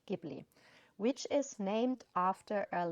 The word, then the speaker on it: Ghibli: I know that Miyazaki himself says Ghibli or Ghiburu because that's basically the Japanized version of the name Ghibli, because he named the